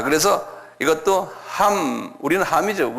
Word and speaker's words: 함: 순서대로 돼 있어 성경에는 그다음에 함이죠함은 한국말로 함 그러지만 영어권 사람들은 햄 그래요 그 그분들이 잘못 발음하는 거예요에 우리 발음인 맞아요 원어의 함이에요이 영국계 사람들이이 성경에 나오는